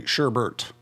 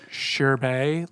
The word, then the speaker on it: sherbet: world does it say Sherbert there is no second R there's no Bert so is it like wherever the word is from is it pronounced like sherbet like sorbet like sorbet